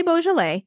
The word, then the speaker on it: Beaujolais: what you're saying balet it is a very French word it is spelled b e a u j o l a i s so it's like the start of beautiful but it ends in like jolas so uh when you